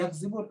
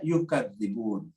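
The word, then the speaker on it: يكذبون: Jadi yakdzibun, ada yang membacanya yukadzibun, ya, gitu.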